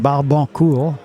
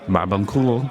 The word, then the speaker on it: Barbancourt: Well, the first thing I'll say, it's pronounced Barbancourt. Barbancourt.